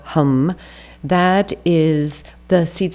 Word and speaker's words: ham: creation and then hum spelled h a m but pronounced with a short a so hum that is the seed